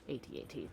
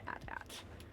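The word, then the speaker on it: AT-AT: agree to disagree on that one good sir uh i i don't mind how one pronounces things uh but i i prefer atat to add at just feels slightly less grating and it's it's an acronym so but again like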